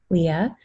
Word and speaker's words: Lia: So my name is spelled Lia, Leah, and last name is, like Jamestown, Virginia.